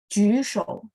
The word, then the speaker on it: 举手: Jadi saya mau tanya, JU itu bacanya gimana? Jusho. Berarti mulutnya setengah bulat ya. Karena J ketemu U.